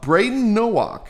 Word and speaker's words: Brayden Nowak: Uh Braden Nowak. Did I pronounce that correctly?